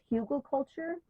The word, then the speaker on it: hugelkultur: And I think the pronunciation for that other way is hugelkultur. It comes out of Germany, I believe is where it originates from.